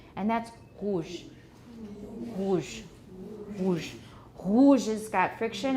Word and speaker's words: rouge: And the next one is a voiced uvular trill. Rouge. Here it's not usually a trill. It's not usually a trill, but it could be. And when Edith Piaf sings, then it is.